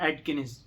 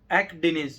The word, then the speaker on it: Akdeniz: गया और ये चौथी है एडकिनिस। ठीक है, एक्डेनिज, सॉरी एक्डेनिज।